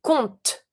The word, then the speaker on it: compte: But when you say it, we never pronounce the P. So just say compte, compte. I do pronounce my T, but I do not pronounce my P, but I still need to write it.